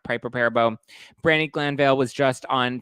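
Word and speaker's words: Piper Perabo: her ex-husband's affair with Piper perebo is that is how it's pronounced pipe repair bow Brandy Glanville was just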